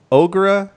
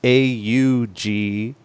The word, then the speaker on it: Aughra: And her name is Aughra. Every time you have an A and a U, we always pronounce that ah, like it's in audacity and audio and things like that.